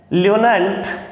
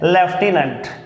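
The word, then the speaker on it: lieutenant: तो यहाँ अपन बात करते हैं ल्यूटेनेंट, या जिसको मोस्टली अपन बोलते हैं लेफ्टिनेंट।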